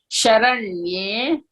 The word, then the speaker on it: शरण्ये: Sharanye. शरण्ये No sa. It is yes. There is slant on top of that. Okay. Yes. Sharanye. शरण्ये Don't say sa. It is sha.